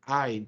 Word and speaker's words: ע: Esa letra Ain, ¿se pronuncia o no se pronuncia? Decíamos ahorita. No se pronuncia. Es una como si fuera una H. decíamos nosotros, ¿cierto? No la pronunciamos.